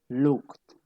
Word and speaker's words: looked: Looked. Right? Listo. Acuérdense lo que yo les he enseñado de la pronunciación de la E, ¿listo? La E no se pronuncia, ¿listo?